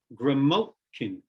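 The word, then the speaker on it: Graymalkin: i come grimochi gremolkin gramolkin where we have three syllables the first and the third are soft and the middle one is stressed this is an amphigraph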